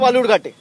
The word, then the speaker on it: বালুরঘাট: আরে আপনি যেখান থেকে লড়ছেন তার নাম ভুল উচ্চারণ করছে, বিকৃত করে বালুরঘাটকে বেলুরঘাট বলছে। আপনি গিয়ে বলতে পারেন না যে অমিতজি এটা বেলুরঘাট নয়, এটা বালুরঘাট?